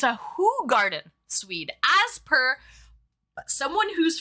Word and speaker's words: Hoegaarden: Listen, I was today years old, Swede, when I learned that it's not pronounced Hoegaarden. It's Hoegaarden.